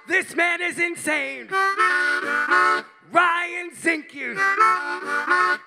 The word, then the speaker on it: Zinke: Ryan Zinke. It rhymes with pinky.